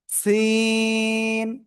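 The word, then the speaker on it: سين: এই যে আমরা সিন অক্ষরটা এখন এই যে লিখলাম না, এই সিন অক্ষরে কিন্তু 4 আলিফ টান হবে। কয় আলিফ? 4 আলিফ টান হবে। ক্লিয়ার? ওকে, তাহলে আমরা উচ্চারণ করব কেমন? সিন।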